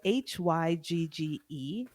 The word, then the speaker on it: hygge: wanted to clear up so that i could hygga which is the danish art of cozy do you know okay no explain oh hygge is spelled h-y-g-g-e because it's a danish word and we don't